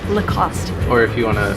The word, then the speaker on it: Lacoste: oh the cost cost so no e in the end no cost remember lacoste or if you want